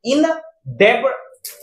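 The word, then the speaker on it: indebted: silent हो गया है यहां इन डेबड पढ़ते इन डेटेड इप्ड तो ब यहां साइलेंट हो गया है तो देखिए इसको क्या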